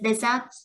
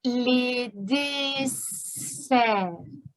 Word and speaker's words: desserts: Ce sont les deserts. Qu'est-ce que c'est? Comment ça s'écrit? Ah, ok, je comprends. On dit les desserts.